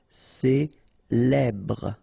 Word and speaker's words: célèbre: Célèbre. Okay, first you get this E, then here you get the E, so célèbre. Final E not really pronounced.